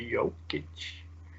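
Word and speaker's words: Jokić: back to back picks 12 13 serum nicola yokic the joker like that is that how you say it you have to say it like that no codes are you yolk itch it's fun try it too if you've ever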